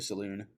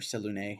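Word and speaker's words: Selûne: uh as an offering to saloon um or selune however you want to pronounce it um with sort of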